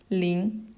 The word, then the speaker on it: 林: And it's pronounced as 林.